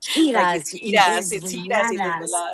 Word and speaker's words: Giras y Desveladas: Even Norma's like Giras y Desveladas.